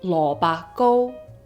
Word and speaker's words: lo bak go: In Cantonese, turnip cake is lo ba go, lo ba go.